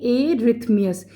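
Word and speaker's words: arrhythmias: देखिए क्या कहते हैं इसको कैसे प्रोनाउंस करते हैं एररथ्मियस एररथ्मियस क्या है इर्रेगुलर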